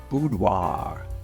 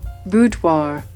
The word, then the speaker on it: boudoir: Well, I really think it depends on where in the world you are. And this is not an unusual thing where people would call me and ask for boudoir pictures. In the United States, I think it's more commonly pronounced boudoir. Boudoir. Boudoir. Boudoir. In the rest of the world, and more accurately, it's pronounced boudoir.